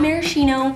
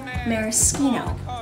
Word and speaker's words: maraschino: mispronounced spirits today's bottle maraschino liqueur not maraschino maraschino yup kinda smells and tastes